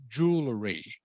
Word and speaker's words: jewelry: This one here is pronounced jewelry. Jewelry. Can you say that, Viet An? Yeah, jewelry, jewelry, jewelry. So the W is silent.